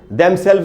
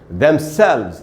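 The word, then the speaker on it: themselves: इस को हम पढ़ेंगे इसमें जो स्ट्रेस है वो सेकंड हिस्से में है इसलिए इसको ऐसे बोलना चाहिए थेम्सेल्वेस जैसे हम बोलते हैं ना हाउस जैसे होटल नहीं बोलना चाहिए वैसे ही डेम सेल्फ नहीं बोलना चाहिए demselves ऐसे प्रनंसीएशन होगा और ये बात हमको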